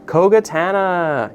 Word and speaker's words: Kogatana: I can never pronounce the name of this one right. Kogatana.